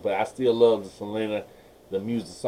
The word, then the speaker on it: Selena: I started, Selena had died. I say Selena, I don't say Selena, that's English pronunciation.